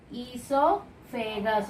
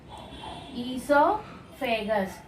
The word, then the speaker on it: esophagus: So, this differentiated tube, this is called esophagus. O is silent. Esophagus.